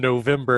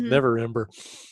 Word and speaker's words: Neverember: You know, it dawned on me that I've been mispronouncing Rainier's last name wrong. But actually, I'm just going to keep with it in character. I've been calling him November, and I know it's not November. It's Neverember.